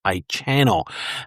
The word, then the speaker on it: Ichano: cameras and made by a company that I believe is pronounced Ichano.